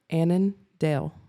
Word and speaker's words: Annandale: Annandale.